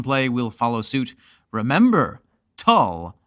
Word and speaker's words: Tull: Remember, Tull rhymes with dull.